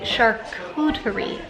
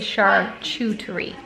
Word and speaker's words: charcuterie: it's the, I guess it's a charcuterie board, not a charcuterie board, which makes sense when you look at the way it's spelled.